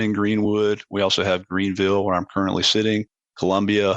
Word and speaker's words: Greenville: I've been to Greenville, as the locals say. Is that correct? Or something? It's Greenville. It's Greenville. Greenville.